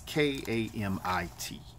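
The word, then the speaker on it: Kemet: name of Egypt is commit and I may be pronouncing that wrong it is K am i t ka MIT and it has been also written kem ET or kam IT but it is what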